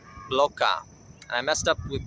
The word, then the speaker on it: Bloká: Both words have an emphasis on the second syllable. Kokóyahaŋla, Bloká.